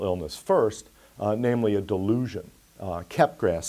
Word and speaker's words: Capgras: first namely a delusion kept grass syndrome sometimes pronounced capgras syndrome but i call it cap grass so this is the